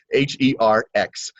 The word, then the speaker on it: Herx: And it's called herxing, or the Herxheimer effect. And you guys can look this up, and it's spelled just like it sounds, Herx.